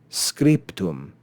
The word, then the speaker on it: scriptum: to pronounce try it but if we change that bay to a pay it becomes much easier scriptum scriptum and the reason why as